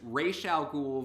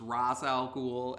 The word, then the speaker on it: Ra's al Ghul: regarding their names like there's racial Google versus Ra's al Ghul and there's Lex Luthor